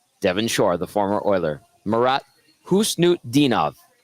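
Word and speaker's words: Marat Khusnutdinov: Shaw the former Oiler morat hnut dinov it doesn't look that way when you read it but that's how you say it according to the NHL's pronunciation guide on defense for mini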